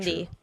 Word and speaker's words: Cydney: Cindy. That's how I say it. Sydney. You can't say it wrong. You have to say her name right.